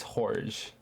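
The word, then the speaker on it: Jorge: want to see it's horge it's horge it's spelled George though no horge no you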